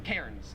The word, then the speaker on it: Cairns: we call melbourne melbourne and we call cans cairns because there's like an r there well my question for